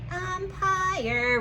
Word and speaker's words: empire: hear the i um i hear the r and there's a silent e that tells i make your long sound i empire write it now uh